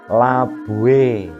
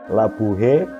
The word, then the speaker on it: labuhe: Nah, berlaku juga untuk kata yang lain, misalnya labuh, labuo, labue, labuen, labui, labuing. Jadi bukan labuho, labuhe, labuhen, labuhi, atau labuhing.